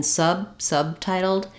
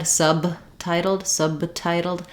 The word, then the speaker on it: subtitled: So subtitled is stressed on the sub syllable. We have the stressed schwa there, the sound. So I'll write that like sa. And then because my B in subtitled is followed by a consonant sound, I'm not going to let it out. So once again, if I said subtitled, I would end up with kind of an extra syllable there. You don't want to hear subtitled.